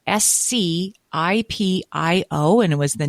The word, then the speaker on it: Scipio: had to explain like his mom would have to say it's Scipio.